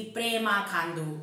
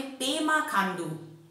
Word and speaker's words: पेमा खांडू: माननीय मुख्यमंत्री जी है उनका नाम का उच्चारण हमेशा आप लोग गलत क्यों करते हो कि प्रेमा खांडू। ये प्रेमा खांडू क्या होता है? उनका नाम है पेमा खांडू। पेमा के जगह प्रेमा क्यों डालते हो आप लोग?